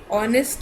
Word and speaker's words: honest: Honest is HONEST.